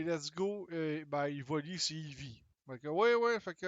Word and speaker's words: Eevee: Ça se prononce bien, Eevee, il me semble. Eevee en français ou Eevee en anglais.